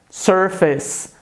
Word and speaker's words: surface: Sabe que a pronúncia correta dessa palavra é surface.